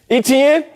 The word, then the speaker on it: Etienne: championship why not jacksonville how do you say his name travis etienne yeah etn big thighs big dog